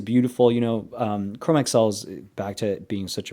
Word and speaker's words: Chromexcel: So, if someone calls pronounces it chromaxel, they're going to have a hard time with this video because we're not doing that. We're doing Chrome XL.